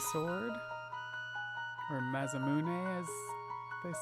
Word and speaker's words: Masamune: stay out of the way shiny brand new maimun sword or masamune as they say I always pronounce things wrong but that's what I'm used